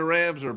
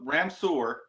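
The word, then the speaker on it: Ramseur: We're heading to Ramsar, buddy. We're playing, I think at East Randolph. I'm not sure where, but we're playing in Ramsar. I know that. So Ramsur is the correct Ramsar.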